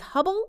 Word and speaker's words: Hubbell: this battle thank you last name is Hubbell like the spacecraft well in terms of